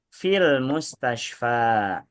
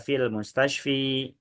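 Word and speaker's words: المستشفى: Fil mustasyfa. Masuk min, minal mustasyfa. Masuk ila ilal mustasyfa. Tidak dibaca fil mustasyfi minal mustasfi ilal mustasyfi enggak enggak dibaca kayak gitu.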